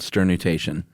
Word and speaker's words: sternutation: So we're talking sneezing, obviously, because we just discoursed on sternutation. I'm adding an extra syllable there, aren't I? Sternutation. That's the Josh Clark way.